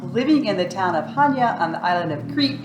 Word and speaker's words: Chania: so a lot of people know it as chanya or chaniya or chanaya it's Hanya Hanya the sea is silent so we're in Hanya which is just